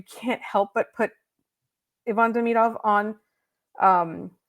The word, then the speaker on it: Demidov: Most Russian names, if they're 3 syllables, the emphasis is on the middle syllable. Yeah. It's not Demidov, it's Demidov.